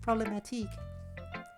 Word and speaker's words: Problematique: It's pronounced problematique.